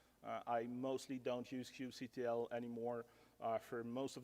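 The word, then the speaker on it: kubectl: I mostly don't use Cube CTL anymore uh for most of the things actually I started to forget how to do things with uh Cube CTL or cube cutle if you say it wrong uh so Cube C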